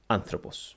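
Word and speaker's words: ἄνθρωπος: second last syllable and third we have the properoxitone kind which is a word which has an acute accent on the third last syllable and a very famous word that has this feature is the word anthropos which means man or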